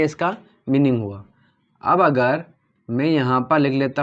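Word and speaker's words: μ: म्यू, इसको म्यू बोलते हैं, MU, म्यू।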